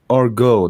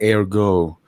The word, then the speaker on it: ergo: whatever you're saying and also it is pronounced as orgo not Ergo all right Rob man